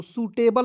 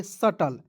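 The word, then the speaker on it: subtle: जाएगा स हो जाएगा टी एल ई टल हो जाएगा सटल ठीक है यहां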